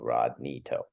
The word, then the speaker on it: Rodney To: My Instagram is Rodney To, and it's how my name is spelled phonetically. RODKNEETOW, Rodney To.